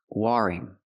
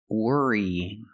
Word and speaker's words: worrying: delay worrying about something I cannot say worrying woring the word is pronounced worrying worrying so we don't use the r sound we use the sound like Burger wor were it's a